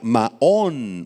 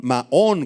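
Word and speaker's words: מָעוֹן: Refugio si quieres apuntarla es la palabra hebrea maón maón con acento en la o y describe una habitación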